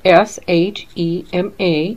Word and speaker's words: Shema: And it is spelled S-H-E-M-A, and that's the name of the ministry, Shema.